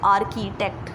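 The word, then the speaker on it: architect: आर्किटेक्ट कौन होता है, it's don't do pronunciation mistake, it's आर्किटेक्ट. ठीक है, आर्किटेक्ट बेसिकली कौन होते हैं, जो हमारे घर के मैप्स बनाते हैं.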